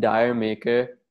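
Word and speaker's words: D'yer Mak'er: actual thing uh it's dire maker uh by led zeppelin and it's supposed to sound similar to jamaica um and this song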